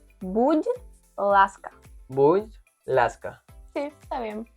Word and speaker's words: будь ласка: En ucraniano decís будь ласка. Будь ласка.